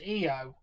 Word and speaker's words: Io: Fine, it's pronounced EO apparently.